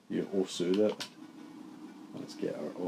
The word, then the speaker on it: osu: You osu'd it. Let's get our osu on again. It's not osu, it's os. What? The U is silent.